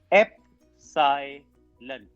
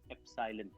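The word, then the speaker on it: epsilon: ये जो E मैंने लिखा है इसका प्रोनाउंसिएशन है एप्सिलॉन, एप्सिलॉन।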